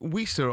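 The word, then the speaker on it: Wissa: Um, is it whisa or visa? I say visa.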